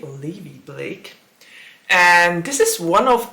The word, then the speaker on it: Olivia Blake: Olivia Blake Olivia Blake I always pronounced it wrong because I always said Olivia Blake but it's actually Olivia Blake and this is one